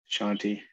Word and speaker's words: Kshanti: deal of it but i think the k is actually meant to be silenced as much shanty shanti well i appreciate that